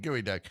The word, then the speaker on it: geoduck: The gooey duck.